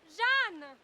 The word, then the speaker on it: Jean: It's me, Jean. Oh, that's how you say it in France. In French, Jan. But it's like Joan over here.